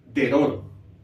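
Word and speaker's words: דְּרוֹר: se va a pronunciar Cuando comienza una palabra es decir cuando la primera vocal de la palabra en hebreo es una cheva por ejemplo aquí tenemos esta palabra Recuerden que el hebreo se lee de derecha a izquierda por lo tanto la primera vocal de esta palabra sería efectivamente un h y esta palabra se ía deror y al español se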